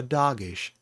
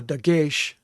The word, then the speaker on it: dagesh: does not have a dog-ish in it okay okay if it has a dog-ish in it uh dagesh not doggish but dakesh in it